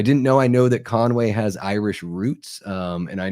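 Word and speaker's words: Conwy: I know out there in Wales, I think it's still pronounced Conway, but it's just there's no A in between.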